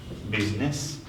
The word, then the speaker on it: business: H को कुरा भयो I मा बिजनेस यो त फर्स्टमा बिजी छ हैन I को प्रोनाउन्सिएसन हुँदैन I mean to say that business then the next thing